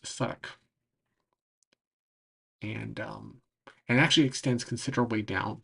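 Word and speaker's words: Southwark: um, and that was called the South Wark, and the Wark is like fortifications, but that eventually became Suddock. This part of town down here um, is pronounced Suddock, and actually extends considerably down south.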